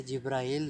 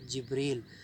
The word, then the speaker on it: جبریل: होंगे उर्दू कहते हैं यह जिब्राइल नहीं है यह लव है जिब्रील जी तरह से मिसल